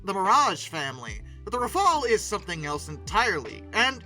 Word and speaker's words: Rafale: The Dassault Rafale, which is how you say it. Historically, I've sometimes called it Rafale, but that's not right. Apparently it's Rafale, which is French for gust of wind or burst of fire.